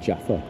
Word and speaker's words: Java: like jav Jaffer or Java um what the locals pronounce it Jaffa but you know like my uh spelling is Java but like the Javanese or the Japanese call it Jaffa so I did find